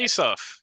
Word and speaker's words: Isuf: And Mike said to Omar Isuf, I asked you this an hour ago, and I'm still mispronouncing it. Isuf.